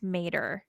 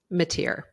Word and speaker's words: Mateer: Paxton's former top assistant Jeff Mader mateer a tear thank you I just heard it in in the trial that's the only reason I know how to pronounce it yes and from what